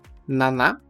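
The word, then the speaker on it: 七: primeira e mais comum Naná Nana com o cuidado que a pronúncia não é n que nós falantes da língua portuguesa acabamos pronunciando mas Naná Naná já é o próprio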